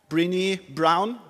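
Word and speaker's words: Brené Brown: highly recommended TED talk brini brown brown like the color and brini as you pronounce it and she talks about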